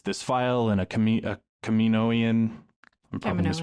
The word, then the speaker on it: Kaminoan: she sees this this file and a comedic Kamino Ian Hammond is pronouncing Kaminoan there we go he's talking about how fives